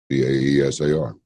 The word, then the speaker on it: Caesar: We're going to visit with the American pronunciation would be Irene Caesar, Caesar, Irene Caesar. It's different in Russian though, and maybe I'll get her to pronounce it for us.